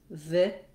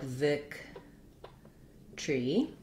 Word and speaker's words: victory: They'll either say victory with three syllables, long, short, short, victory, or they'll say it more like victory, victory, where that tree at the end gets a little bit squished together, almost like just one syllable, victory. So that would look more like Vic tree.